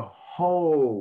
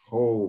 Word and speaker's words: whole: correction which deceiveth the whole world so and so the wh is is really pronounced yeah just like an h almost really no difference whole world very good you